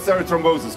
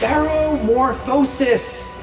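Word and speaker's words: ceremorphosis: you to tell me everything you know about serot thrombosis come up it's seromorphosis yes I'm not going to tell you until you can pronounce it correctly cerebral War OSIS okay it's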